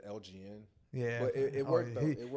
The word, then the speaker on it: LGN: it confused with like LGN. Like, is it abbreviated for something? Nah, it's not. It's my name without the vowels, so it's pronounced the same way. Right. But people say LGN or Elgin, so I take them both.